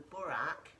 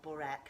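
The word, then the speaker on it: burek: So it's actually a Croatian dish called the burak, or borek I think is how it's pronounced, B-U-R-E-K, and it's a phyllo pastry dish.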